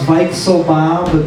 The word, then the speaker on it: Weisselbaum: It's actually pronounced Weisselbaum because it's German, but I'm not German.